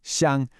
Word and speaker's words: xiāng: She asked to leave her xiāng, pronounced xiāng, her hometown.